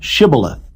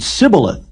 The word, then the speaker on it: Shibboleth: If he said, Nay, then said they unto him, Say now, Shibboleth. And he said, Sibboleth. for he could not frame to pronounce it right.